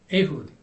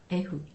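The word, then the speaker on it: Ehud: is true story in the Bible oh yes ahood ahud eh h u d e h u d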